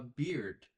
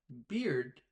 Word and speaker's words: beard: When you talk about the hair on a man's face, you stop the air at the end of the word. For example, I look good when I have a beard.